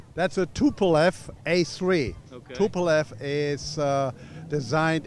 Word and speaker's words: Tupolev: How do you pronounce that name? That's a TupleF A3.